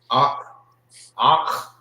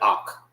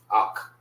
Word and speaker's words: Akh: Some people say it so fast you will not hear like the pronunciation that the you hear Akh. Sound like you're saying it with a K, the K-A, Akh. But it's Akh.